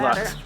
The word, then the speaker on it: Lux: luxurious i'm really excited i think they pronounce it luke's but luke's luck i'm gonna call it lux today's video is not